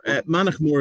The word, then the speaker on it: Mannochmore: Mannochmore is how I'd pronounce it.